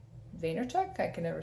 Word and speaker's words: Vaynerchuk: crushing it by Gary Vee I think you pronounce this last name Vaynerchuk I can never say it so crushing it